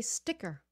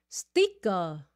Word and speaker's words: sticker: of you can say sticker how many of you are saying stika thika okay it's a short I again sticker and remember see that sound sticker sticker sticker to